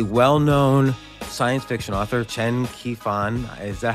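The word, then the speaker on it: Qiufan: What a brilliant idea of basically taking a well-known science fiction author, Chen Qifan. Is that how you say his name? Qifan? Qifan.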